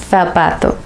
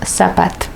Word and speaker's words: zapato: En España la pronunciación de la Z es parecida a la C, zapato. En Latinoamérica no hacemos esa distinción en la pronunciación y decimos zapato.